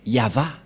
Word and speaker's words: Yahvah: Et la prononciation de ceci, c'est Yava.